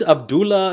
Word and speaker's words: Abdallah: Is it Abdullah? Is it Abdullah? How do you say it? Is it Abdullah? Sorry for Abdallah.